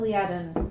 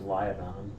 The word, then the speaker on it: Liaden: I always thought it was Liadon. I made up the name, and then you made up a pronunciation that was counter. I get to choose my own pronunciation.